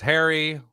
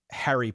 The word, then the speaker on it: Harry: No, I say my Harry rhymes with Mario.